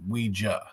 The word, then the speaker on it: Ouija: It's a it's a common question I get and the brand itself is pronounced Ouija.